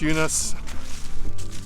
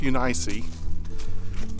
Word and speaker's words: Eunice: Sometimes it's pronounced Eunice. Sometimes for the Greek, it's pronounced Eunice. But anyway, we'll just go with Eunice.